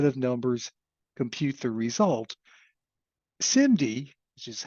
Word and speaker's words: SIMD: equation one set of numbers compute the result simd which is how that's pronounced is single instruction multiple data and we'll